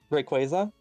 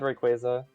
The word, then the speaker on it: Rayquaza: a face but yes it's based on a quasar but Rayquaza is something like I grew up hearing so much and it's like yeah I've always said Rayquaza I'm also such a